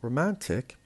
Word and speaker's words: romantic: We have the word romantic. Romantic has 3 syllables, and the stress is on the second syllable, the one in the middle, because romantic has IC